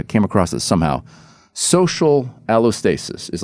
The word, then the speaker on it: allostasis: Allostasis is like is like releasing the stress hormones so you can rise to the occasion.